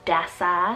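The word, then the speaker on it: Dessa: energy second to last name here we have desa spelt d-e-s-s-a desa this one means wandering or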